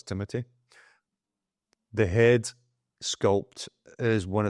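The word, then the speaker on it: Timothée: that looks incredible so this Timothy shamaly I think that's how you pronounce his name CU everybody thinks it's Timothy it's not it's Timothy the head sculpt is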